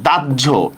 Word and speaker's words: দাহ্য: এটা হবে হচ্ছে এভাবে, দয়াকার দা, জ হসন্ত, ঝয় ওকার।